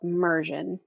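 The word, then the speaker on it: Mursion: is this platform that's called Mion it's spelled Mur s i o n and what it does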